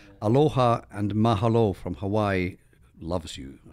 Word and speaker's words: mahalo: You did get it right. Mahalo. Sounded good, too. Mahalo. Sounded very good. You emphasized the second syllable.